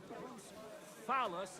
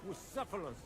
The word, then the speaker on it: Bucephalus: What kind of name is Bruce Phallus, anyway? It's pronounced Bucephalus, which can't.